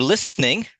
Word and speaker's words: listening: So, for instance, you know, whenever you're listening, the T is silent.